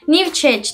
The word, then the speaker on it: Newchic: ettiğim zaman lar olmuştur markanın adını New chage diye okunuyor New newchic diye yazılıyor Siz Zaten başlıkta görürsünüz